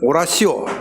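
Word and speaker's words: oratio: 셋째는 오라시오.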